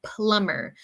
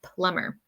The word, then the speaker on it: plumber: is true we say plumber so remember the b in this word plumber is silent it is silent we do not pronounce the b we just say plumber all right number two